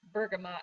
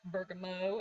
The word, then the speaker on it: bergamot: Gonna talk about bergamot oil, and I have to consciously go bergamot because for some reason I want to call it bergamot, and that is not the correct pronunciation. It's bergamot.